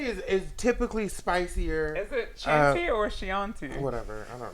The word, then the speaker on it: Chianti: That's Chianti. Okay, Google, pronounce the word that's spelled Chianti. Chianti.